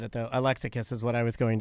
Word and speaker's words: Alexakis: Alexakis is what I was going to say. It's Alexakis.